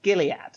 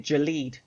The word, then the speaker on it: Gilead: i ask a question is it pronounced gilead yup because my dumbass has been walking around calling it jaleed oh no and